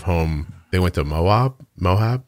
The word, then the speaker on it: Moab: they went to moab mohab is that how you say it the desert yeah moab yeah and then they went